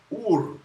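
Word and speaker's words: עוּר: All right, here's how you say it. Ur, ur, ur. Strong's H5782. Ur.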